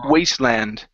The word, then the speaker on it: Wasteland: practice the word Wasteland give me an ooh sound at the beginning instead of vand ooh waste Wasteland Wasteland there you go Okay so